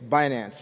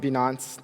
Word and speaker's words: Binance: really cool name it's binance like it's not beyonce you know as some people pronounce it so it's binary finance